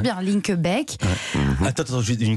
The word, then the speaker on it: Linkebeek: Je prononce bien Linkebeek.